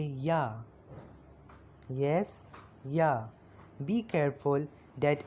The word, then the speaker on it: ja: If you want to say yes in German, you will say ja. Yes, yeah. Be careful that in German, if it is J, English J, it is J, pronounced like yeah.